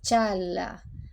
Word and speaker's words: Çağla: En el caso de ella, además de la "'g' con cuernito", tenemos la "'c' cedilla", que se pronuncia "ch", así que es "Chaa-la", así que es "Doan y Chaala".